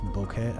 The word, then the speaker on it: bokeh: So this statue that's in the foreground and out of focus with a nice bokeh effect. I have no idea how to pronounce that.